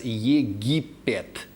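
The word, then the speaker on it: Египет: The key here should be the Russian pronunciation of that name, where this land is known as Yegipet.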